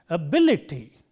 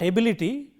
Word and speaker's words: ability: So, the right way of pronouncing this word is ability, not ability. When you say ability, the stress is on the first syllable, but it is ability. When you stress this syllable, this vowel gets weakened, and so ability.